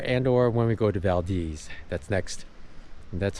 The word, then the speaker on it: Valdez: video fishing or Andor when we go to Valdes that's next that's how you pronounce it by the way vales not Valdez all right bye we got lucky and the